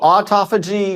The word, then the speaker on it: autophagy: that again how do you say that so autophagy mitophagy autophagy it's and mitophagy yes okay so